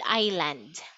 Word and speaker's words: island: It is silent S. The S is silent here.